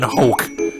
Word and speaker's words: Hoek: My best attempt at a Ren Hoek, or Hoek, I think is how you say his last name.